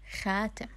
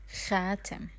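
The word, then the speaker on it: خاتم: Ring in the official Arabic or the general Arabic, we say it as the same word, which is khatim. Khatim.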